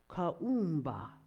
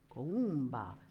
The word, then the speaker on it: Kuumba: Kaumba, that's how you say it in Swahili. Kaumba, exactly.